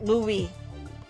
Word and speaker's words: Louis: And then and then uh the Louis the Louise is not actually Louise. He's like Louie. We call him Louie. The silent s Louis uh I think in English is Gus.